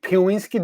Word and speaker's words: Piwiski: Piwiski, did I say it right, Angelique?